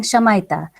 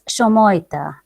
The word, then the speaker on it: Shamoita: And I was saying Shamaita. And she said that, it happens, most of people, they call me Shamayita or something. But it is, pronounced it's a basically Bangla word. I don't know if you would be able to pronounce it. It's Shamoita. So to keep it on